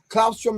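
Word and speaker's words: Claustrum: Clausrom is spelled C L A U S T R U M.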